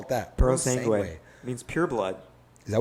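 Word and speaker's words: Purosangue: Not even a Puro Sanguini? What's it called? Puro Sanguini? Puro Sangue? Sergadici? Puro Sangue? Paratelli. How do you pronounce it?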